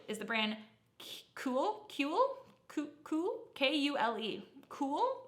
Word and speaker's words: Kule: Cool, but it's not K-U-H-L.